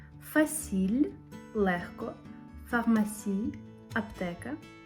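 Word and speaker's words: pharmacie: директор ф фасіль легко фармасій аптека тут вони написали F до Farmasi так само до аптеки Хоча вона починається з pH тому що читається воно так само як F далі виграти гех Вій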